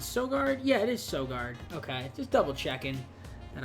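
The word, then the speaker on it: Søgaard: sure this is so guard yeah it is so guard okay just double checking and I was saying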